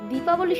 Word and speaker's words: দীপাবলি: South ইন্ডিয়ানরা এবং east ইন্ডিয়ানরা প্রথম থেকেই দীপাবলি শব্দটি ব্যবহার করে, কিন্তু নর্থ ইন্ডিয়ানরা দীপাবলির উচ্চারণ ভুল করে দিওয়ালি বলা শুরু করে।